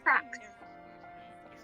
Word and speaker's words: Prax: Prax. It's pronounced P-R-O-X. It's kind of like the proxy, but without the Y.